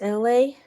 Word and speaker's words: LA: My name is LA, pronounced like LA like the city.